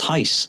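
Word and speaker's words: Reis: He said, "It's h even though it's R E I S, it's pronounced hace."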